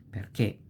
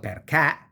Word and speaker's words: perché: Perché with this accent, because the e is pronounced closed. It's not perché, ma è perché.